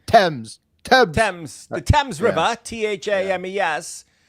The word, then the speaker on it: Thames: Thames, I think, is The River how they say it. Thames. But they say Thames.